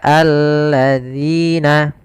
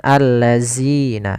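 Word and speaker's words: الذين: harakat kemudian Sabat Quran hati-hati di dalam pelafalan dalzalnya dalal di sini agar dia terbaca dengan baik itu dengan ujung lidah kita kita menempelkan dengan Gigi Sari atas dza dzi Maka alladzina hati-hati jangan terbaca dengan alladzina ini kesalahan yang sering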